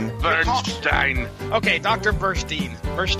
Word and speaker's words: Burstein: and source material history doctor Burstein bu rst ein will be pronounced as the following - Bernstein okay doctor first Eve